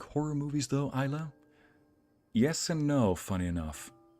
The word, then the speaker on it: Isla: Also, my name is pronounced Isla. I'm Scottish. Oh, Isla.